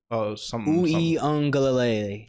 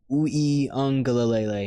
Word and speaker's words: Uiagalelei: DJ Uiagalelei. He was at Clemson first. The part, like there's a pronunciation of an N in there, but there's no N in his last name though.